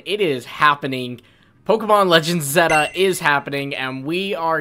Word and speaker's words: Z-A: But it seems that it is Pokemon Legends Zeta. The reason we know this is because the Japanese site kind of gave a pronunciation of it, and it is Zeta. And that actually makes sense because that is the Greek alphabet letter, you know, Zeta.